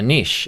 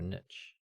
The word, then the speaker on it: niche: one another oh okay is it a niche or a niche it's a niche so i say niche i say niche but the american podcast i listen to say niche and i don't know if that's a i'm just saying it wrong thing or if americans say different to us i feel like